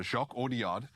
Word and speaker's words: Jacques Audiard: Jacques Audiard is how you say it.